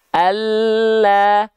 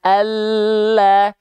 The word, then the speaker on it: Allah: Maka contoh pelafalannya seperti ini. Allah, Allah, Allah. Bedakan dengan huruf L yang tadi. Al, dengan Allah. Beda atau sama teman-teman?